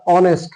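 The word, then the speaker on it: honest: বসার কথা না কিন্তু আমি যখন উচ্চারণ করতেছি এটা অনেস্ট হচ্ছে অর্থাৎ এখানে বাউল উচ্চারণ হচ্ছে সেই ক্ষেত্রে আমাদেরকে এ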